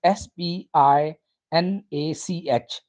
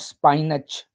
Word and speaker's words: spinach: and magnesium it is s p i n a c h not spinach it's spinach spinach spinach low carb